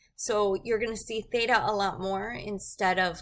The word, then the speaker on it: theta: a line through the middle okay this is pronounced Theta it's a Greek letter and it's a variable